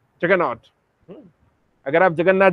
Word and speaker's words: जगन्नाथ: तो इसलिए क्योंकि वो लोग तो प्रोनाउंसिएशन तो उनका बनता नहीं है, ब्रिटिश एसेंट है ना, तो जगन्नाथ जी को वो लोग बोलते थे जगरनॉट, जगन्नाथ।